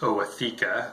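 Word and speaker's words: ootheca: of you who are not Mantis keepers is Oh a theca the plural is Oh a CC quick point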